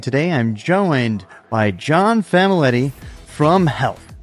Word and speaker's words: Famiglietti: name correctly well correctly it's probably like famili but um you know I grew up in I'm an American I'd say we just say F uh my dad uh